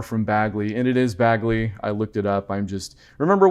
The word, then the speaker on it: Bagley: So along with Morgan, you'll get some more from Bagley, and it is Bagley.